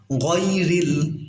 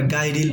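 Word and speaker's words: غَيْرِ: আনআমতা আলাইহিম, গয়রিল, এখানে অনেকে আমরা গায়রিল বলি, কিন্তু গায়রিল না, এটা গইন জবর গ হয়, গয়রিল মাগদুবি আলাইহিম ওয়ালাদ-দাল্লিন।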